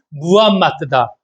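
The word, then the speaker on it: 무함마드: 마호메트라고 다 했는데 그 마호메트가 아니라 정확한 발음이 무함마트다.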